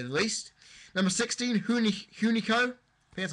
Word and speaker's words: Hunico: Number 16, Hun Hunico.